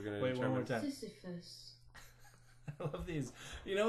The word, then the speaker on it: Sisyphus: Sisyphus. Well, there you go. You know what? Do you know where I pronounced it from?